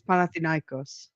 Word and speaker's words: Panathinaikos: I don't know what that is, but it's Panathinaikos.